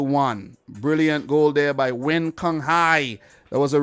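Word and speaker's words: Nguyen: seven eight of them the whole team is wins you know what i'm saying but they haven't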